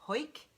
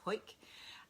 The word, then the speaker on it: Howick: i've been up to i think you pronounce it hoik please correct me if it's wrong it's spelt howick but i think it's hoik uh up in the